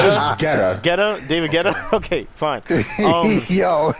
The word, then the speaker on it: Guetta: David It's Guetta. just Guetta.